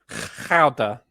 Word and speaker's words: Gouda: Danny, I must, as someone who knows a Dutchman, it is pronounced Gouda.